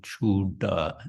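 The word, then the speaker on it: চূড়া: Bāndhibo chūda. And then the D with the dot, the same. It's with the tongue on the top of the mouth.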